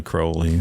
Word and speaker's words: Crowley: There's no audio of him pronouncing his name, but in some of his poetry, he rhymed his name with unholy, Right. Unholy Crowley.